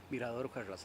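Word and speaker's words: Mirador Ujarrás: Mirrador Ujarrás, yeah.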